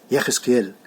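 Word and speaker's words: יחזקאל: Ezequiel é super difícil de pronunciar, que seria Yechezkel.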